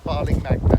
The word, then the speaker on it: Barling Magna: We are at Bowling Magna. How I pronounce it's right? Yeah, Barling Magna.